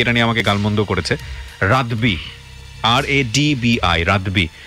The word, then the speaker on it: রাদবি: রাব্বি রেজার, আসলে তো ওনার নাম রাব্বি রেজা না, এটা আমরা কিন্তু ভুল করে উচ্চারণ করি। অনেকেই দেখলেন ফেসবুকে অনেকেই এটা নিয়ে আমাকে গালমন্দ করেছে, রাদবি, RADBI, রাদবি।